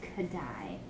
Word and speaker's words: Kodály: It's pronounced Kodály.